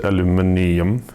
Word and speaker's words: aluminium: chassis is all aluminium yes I pronounce it aluminium as got intended the upper deck you